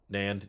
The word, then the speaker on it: NAND: actually storing the data you can pronounce it like the word and nand okay i don't follow